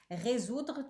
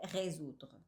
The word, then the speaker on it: résoudre: Résoudre. Tu as tu as vraiment av une difficulté à prononcer. Donc c'est résoudre. Résoudre. Résoudre.